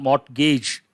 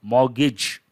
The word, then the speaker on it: mortgage: that also it's not mott gage t is silent mortgage so rhetoric rhetoric you